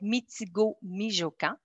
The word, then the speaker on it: Mitigo-Mijokan: C'est un nom qui se prononce comme il s'écrit, donc Mitigo-Mijokan.